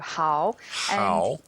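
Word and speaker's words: 好: the word good for example and you pronounce it how h a o how how yep and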